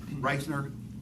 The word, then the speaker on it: Reithner: And Exhibit A11 is an email, a very short email string between Tom Reithner, am I mispronouncing that? No, that's correct.